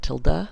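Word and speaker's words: tilde: an exact replica control till day now I know other people pronounce it Tilla but I say till day and the till day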